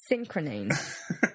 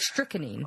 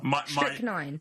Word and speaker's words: strychnine: I've been poisoned by synchronine. Synchronyne, whatever it's called. Strychnine. Strychnine.